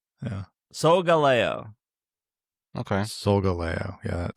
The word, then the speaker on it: Solgaleo: Solgaleo. Okay. Solgaleo. Yeah, that sounds. Because it rhymes with Galileo. But then I always try to remember, does it rhyme with Galileo?